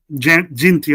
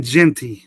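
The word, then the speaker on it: Jeanty: Is it Genty? Genty. I want to say his name right because he's gonna be special. He's gonna be a pick, number 1 pick. So I gotta say his name right. Ashton Genty. That's what I'm hearing on TV.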